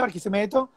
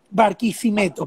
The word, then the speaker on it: Barquisimeto: El Aula Magna, el Palacio Municipal de Barquisimeto, de Tenreiro, es un edificio en concreto, obra limpia, completamente brutalista.